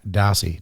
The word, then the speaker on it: Dossey: and race car driver amongst other things Jack dossey did I say it right yep I know